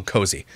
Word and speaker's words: Koazi: Pronounced, oh, cozy.